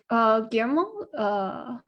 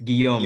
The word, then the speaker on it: Guillaume: And I think was it, I think it's either Guillermo sorry, yeah, sorry, I wasn't pronouncing the name right. So I think can you repeat your name again? It's Guillaume, I think.